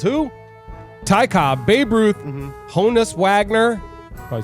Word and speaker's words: Honus Wagner: Ty Cobb, Babe Ruth, Honus Wagner. Probably said that wrong. Oh, you said it right. Honus Wagner.